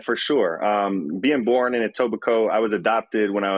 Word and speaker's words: Etobicoke: Now, how do you pronounce the city? I don't want to kill it. No, it's Etobicoke.